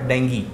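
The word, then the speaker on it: dengue: तो मैं उनको बताता था कि नहीं, ये डेंगू नहीं होता, इसकी सही प्रोनाउंसिएशन डेंगी होती है।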